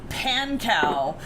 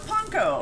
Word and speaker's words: panko: Detroit says it's pronounced pancow. No, it's panko.